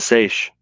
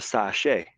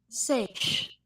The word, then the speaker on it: seiche: and she learns the sashay and when i first seen this word i thought that's how you pronounce it but let's do that it's a good point good question there banta sage one more time sweetheart